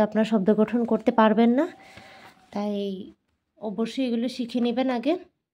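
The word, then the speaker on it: 넷: করছি আপনারা বুঝতে পারছেন আমি কেন লাস্টে ত উচ্চারণ করছি কারণ এটা রুলসে আছে যদি এই কনসোনেন্ট গুলো যদি লাস্ট কনসোনেন্টে থাকে যেটাকে বলা হয় মানে হচ্ছে এই যে এক দুই তিন এই যে লাস্ট কনসোনেন্ট যদি থাকে তাহলে সেটার উচ্চারণ টি এর মত হয়ে যাবে আমি আমার ভিডিওতে আমি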